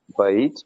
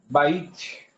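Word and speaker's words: בית: Eu ia perguntar isso, se a pronúncia certa é bait ou baite. Eh, eh, baite, baite, baite, por conta que eu tenho o som de duplicado, tá?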